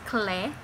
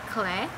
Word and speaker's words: Clé: I think it's clay. I've been pronouncing it as clay. I don't know. Bang Chan pronounces it as clay, so I will call it as clay.